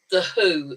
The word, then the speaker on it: The HU: They're called The Who, and it's not it's spelled the HU, and they're actually a Mongolian heavy metal group.